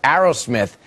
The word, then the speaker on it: Aerosmith: for this group called I think it's pronounced Arrow Smith it's all in his